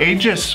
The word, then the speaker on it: Aegis: again they send us the Columba Aegis or agus depending on how you want to pronounce that their new bag for